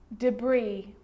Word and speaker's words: debris: Now an S can also be silent, and I know that you've already struggled with this one. Island, island. Debris, debris.